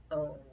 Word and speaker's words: own: Once we put a D in front of it, the OW starts to say ow instead of O. In this word though, it does say O, own.